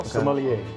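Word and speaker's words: sommelier: Is it Sier? Cuz it's obviously French, right? Right. Yes. It's a wine steward, wine professional. Somalier.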